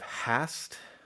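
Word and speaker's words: هست: So Persian, the verbal paradigm, you have hast, which is the formal way of saying to be, and then the H is usually not pronounced in most forms.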